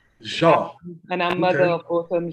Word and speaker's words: Jean: You could leave out the N. Jean.